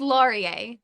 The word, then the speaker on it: Laurier: why don't you pronounce it for me it's pronounced Laurier okay okay I think that's probably what I